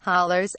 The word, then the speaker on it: hollows: That depleted population is today scattered widely across small towns and in mountain hollows, pronounced hollers, accentuating the sense of sparseness and emptiness.